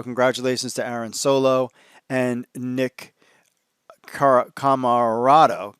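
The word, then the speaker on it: Nick Comoroto: to aaron solo and nick camarado nick camarado that's what it is i keep saying it wrong congratulations on them signing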